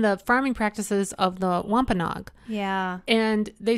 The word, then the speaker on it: Wampanoag: he's the one how do you say it wagonag wampanoag wampanoag he's the one wampanog who can speak